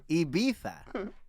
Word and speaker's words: Ibiza: before i beat that it's not iv it's ibiza ibiza it's all original it's